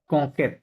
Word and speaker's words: conquête: conquête, কংকেত, কি হবে? কংকেত, conquête, কংকেট, হ্যাঁ conquête, ইউটা তো you নাই, silent, ইউটা সাইলেন্ট থাকে, conquête, তাহলে কিউ conquête.